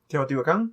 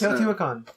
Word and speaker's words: Teotihuacan: I cannot pronounce this word, but it's. Starts with a T in Mexico. Teotihuacan?